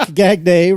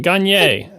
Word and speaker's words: Gagné: So Pierre-Luc Gagné writes. No, come on. You got to work on your French pronunciation. Gagne.